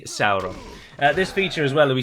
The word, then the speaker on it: Sauron: Of course, Sauron is pronounced Sauron, everyone knows that, and it's always very jarring to the ear when someone says Sauron. But Tolkien specifically lists and gives a guidance in the appendices to Return of the King. He tells you how to pronounce the various diphthongs and vowel sounds and whatnot, and it is definitely Sauron.